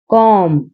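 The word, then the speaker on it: comb: That वो इज है ए एक कॉम कॉम कंघी इसमें बी साइलेंट है। बी को नहीं बोला जाएगा। बी की आवाज नहीं आएगी। इसको बोलेंगे कॉम।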